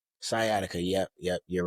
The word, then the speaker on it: sciatica: Sciatica.